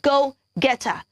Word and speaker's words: go-getter: am a go-getter yeah so it is g-o go not g o a l okay so you're not